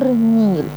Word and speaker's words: النيل: ايه ده اسم نهر النيل الننيل اللام هنا لام ايه شمسيه ولا قمريه لا شمسيه النيل ما نطقتها النيل في مصر في هنا